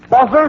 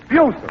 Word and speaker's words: Buser: Now, the name, madam, is that Buzzer, B-U-S-E-R? Buser. Buser. Oh, I spelled it correctly. I probably mispronounced it.